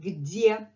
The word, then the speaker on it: где: Again, for English speakers, it's a little bit on the tough side to pronounce because Russian de is much harder than English de, because English de is d. And Russian is de.